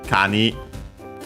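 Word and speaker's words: 蟹: Gani comes from actually Kani, an accent, okay, crab. So yeah, actually in Japanese it's a helmet crab. Of course, we also have the change of the K of Kani into G, because it's the second word part of the compound.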